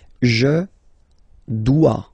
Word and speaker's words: dois: Je dois. Okay, remember, final S is not pronounced. Je dois. OE, when you combine the two, you get the sound wa wa wa.